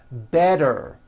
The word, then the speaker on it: better: So if a letter T falls between 2 vowel sounds, which are voiced, so if it falls in the middle of vowels, then the T is pronounced as a D and the whole word is voiced.